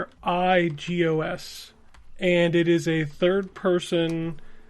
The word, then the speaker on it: Asterigos: It's called Hysteragos, and actually I pronounced it incorrectly before I played it because I had never heard them say the word.